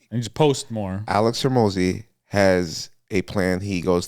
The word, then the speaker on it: Hormozi: Hormozi?